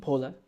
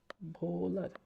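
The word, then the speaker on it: Wöhler: হচ্ছে বিজ্ঞানী ফেড্রিডি ভোলার বানানটা হচ্ছে এরকম হ্যাঁ ভাইয়া ডব্লিউ তে বানান কিন্তু নামের উচ্চারণটা হচ্ছে ভোলার কি নাম ভোলার তো যাই হোক উনি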